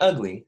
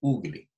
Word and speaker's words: ugali: Not ugly, say ugali.